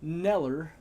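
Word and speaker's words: Kneller: Neller. The K is silent.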